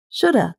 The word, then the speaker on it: shoulda: And sometimes native speakers reduce or shorten the pronunciation even more. So it sounds like this. Shoulda, coulda, woulda.